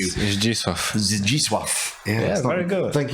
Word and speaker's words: Zdzisław: That first name is difficult for an English person. The Zdisław. It's Zdzisław.